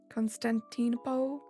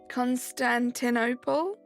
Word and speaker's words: Constantinople: Constantinopole. I know that's not how you say it. I'm annoyed that I don't know how to say it. We're almost in single digits. Amber, tomorrow. Constantinople.